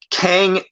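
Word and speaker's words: Qeng: industries or avengers tower it says kang but it's spelled q-e-n-g kang in uh kang enterprises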